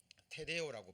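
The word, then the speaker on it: τηρέω: 자, 여기서 기록된다라는 것은요, 페레오, 테레오라고 발음이 되는데 이거는 보존하다, 지키다라는 얘기입니다.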